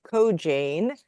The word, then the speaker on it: Koijane: Full disclosure, the last name is pronounced Koijane, which everyone does wrong.